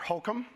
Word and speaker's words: Holcomb: quick question by the way i got your name wrong before it's governor holcomb there's tell me about the retail politics moment